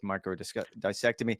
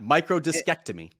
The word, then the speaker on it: microdiscectomy: You and I actually debated about the proper way of pronouncing that. I think you might have gotten it, but I'm going to go with microdissectomy. When he had Nope, that first one, absolutely not. Microdiscectomy.